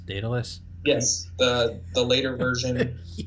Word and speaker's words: Daedalus: of project uh i don't know how to pronounce it dataless daedalus yes the the later version out of uh